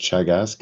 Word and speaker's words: Teagasc: But just by means of introduction, Teagasc is the Irish Agriculture, Food and Development Authority, and it's pronounced Teagasc.